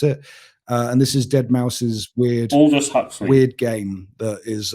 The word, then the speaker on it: deadmau5: or as he said on the show uh deadmau5 yeah is the correct pronunciation of his name which i hadn't heard